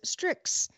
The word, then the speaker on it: Strix: nang mind then there's strix which is an rog sub-brand strix is a word it's a completely nonsensical made-up word but it's a word and you pronounce it as such nick says honestly as